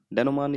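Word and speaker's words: denouement: डेनोमान, डेनोमान इसका प्रोनाउंसिएशन होता है।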